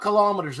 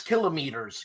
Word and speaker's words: kilometers: And it's not kilometers, it's kilometers. Get it right. The Greeks invented it. You say it like a Greek.